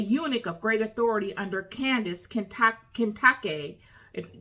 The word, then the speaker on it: Kandake: of great Authority Under Candice Kent Kake if depending upon how you want to pronounce it uh but the in ancient times it was kandake or Kake queen of Ethiopians who